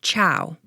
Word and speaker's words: Che'w: Another linguistic quirk is the way that Chow is spelled. It's CHE apostrophe W. So the apostrophe has a meaning in the pronunciation because it's one of those things that doesn't exist in English or Spanish.